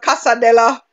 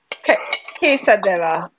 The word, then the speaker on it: quesadilla: Well, it is spelled Quesidilla. Quesadilla. Quesadilla. I know I always pronounce it wrong because whenever I call it in front of the people from that culture, they always correct me.